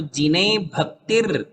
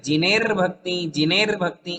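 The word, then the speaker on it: जिने भक्तिर्: जिनेर भक्ति जिनेर जिनेर नहीं, जिनेर नहीं, जिने के बाद र नहीं है, जिने भक्ति, जिने भक्ति। हाँ देखिए, अभी भक्ति के बाद र पढ़ना है। अच्छा, सभी लोग ध्यान दो इसमें, कहाँ र का उच्चारण होगा, तो जिने भक्तिर, जिने भक्तिर, जिने भक्तिर दिने दिने। हम ऐसा नहीं पढ़ेंगे, जिनेर भक्ति ऐसा नहीं है।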